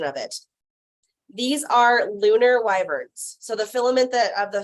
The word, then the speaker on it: wyvern: And like I said, these are lunar wyverns or wyverns. I don't know how it's pronounced. It's like a mini dragon. They're wyverns. It's wyvern, okay.